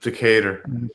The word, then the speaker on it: Decatur: Decatur. Decatur. Decator. I knew that. Yeah, that's how I pronounce it. Decatur.